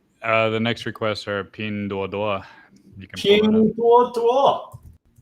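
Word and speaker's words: Pinduoduo: Not Ping Duo. Yeah, it cringes me. Like, I think a few years ago I was watching Stock Mo, and he was like Ping Duo Duo. I'm like, it's not how you say it. Duo Duo.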